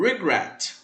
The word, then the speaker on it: regret: Segundo exemplo, regret. O verbo regret, regressar, ele também tem a sua sílaba tônica na última sílaba. Regret, regret, regret, regret. Não é regret, é regret. Com isso, ele também vai